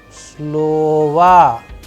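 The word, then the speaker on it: слова: Like in this case, it is falling on the first O. That is why the sound and the pronunciation of this particular word is like slova. Slova. That is why the last O is being changed into as if it is A.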